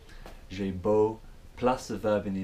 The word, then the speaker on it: j'ai beau: So in French it's j'ai beau, as in beau for beautiful, j'ai beau, plus a verb in